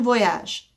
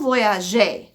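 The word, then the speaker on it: voyages: voyage with an s whenever you use two the verb is always going to have an s to voyage but you don't say the s it still sounds just like this one il or el voyage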